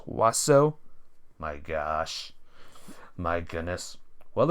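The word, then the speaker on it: oiseau: it in consider the French word oio it's pronounced waso my gosh my goodness well if you insist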